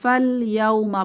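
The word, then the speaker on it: فَالْيَوْمَ: লাম সুকুন কে ধরবে আমরা ফাল ইয়াওমা পড়বো ফাল ইয়াওমা এখানে আলিফটি অনুচ্চারিত থাকছে তো এটি হচ্ছে অনুচ্চারিত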